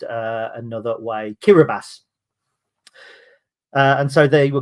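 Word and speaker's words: Kiribati: find it now so the island is not kirati but it's it's spelled kabati but it's pronounced uh another way kirbas uh and so they were called kabas they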